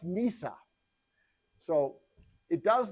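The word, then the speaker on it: נִסָּה: It's pronounced Nisa.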